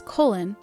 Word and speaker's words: Colin: the pilots the late Coen pal adopted the pronunciation of his name as colen after hearing how Coen Kelly's name was pronounced